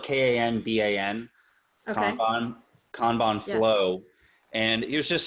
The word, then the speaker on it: Kanban: one right here so I use one called cambian it's spelled kan ba n Kanban flow and here's just an example where